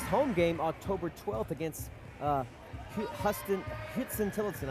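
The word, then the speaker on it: Huston–Tillotson: Our next home game, October 12th against Houston Tillotson. I said that name wrong. Houston Tillotson. Houston Tillotson University. It's not spelled like Houston, that's what it is.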